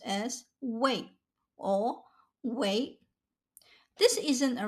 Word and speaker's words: 为: This Chinese character can be pronounced as wei or wei. This isn't a random pronunciation change, it's a change in the direction of the relationship. Let's give them clear personalities. Wei, fourth tone, is the giver.